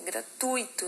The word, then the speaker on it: gratuito: faz muito em prova Qual é a sílaba tônica dessa palavra já falei para vocês ali na questão anterior é gratuito né gratuito na de gratuito tá gratuito então ele vai ser o que é uma paroxítona terminada em ó por